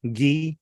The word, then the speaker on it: ghee: And kind of the same here with the H, it's a silent H in ghost, ghastly, ghee, or ghoul, right?